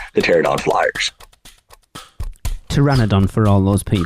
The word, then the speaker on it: Pteranodon: rocket or D the pterodon Flyers yes I pronounced the p in there once again December 27th Universal announced